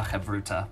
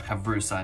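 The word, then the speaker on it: chavruta: need to find ourselves a chevrotha or a kavrusa in good ashkenazi pronunciation is a partner it's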